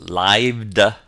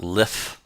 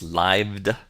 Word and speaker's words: lithe: advertise boastfully our seventh word h l-i-t-h-e is pronounced lived it's not lift it's lived it means to be flexible or supple a